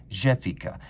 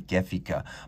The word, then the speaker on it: Gefica: up with this watch jefika and because it is jafari fesore and canale i'm pronouncing it with a soft french g rather than the german gefika but i know a